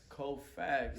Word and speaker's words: CO.FAX: CO.FAX. Yeah. You hear that's CO.FAX, spitting facts.